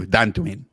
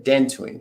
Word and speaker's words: Dantooine: And thanks for pronouncing it right too. Dantooine. I pronounce all of my words correctly because I got made fun of as a child. I called it Tatooine for many years. No, it's Tatooine and then Dantooine. That's all.